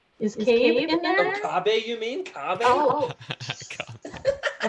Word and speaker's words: Kabe: Evazan, and I was quizzing her, going through these names, and then I'm Is Cabe in there? What's that? Is Cabe in there? Oh, Kabe, you mean?